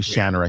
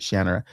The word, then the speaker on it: Shannara: It's actually Shannara. He he pronounces it Shannara.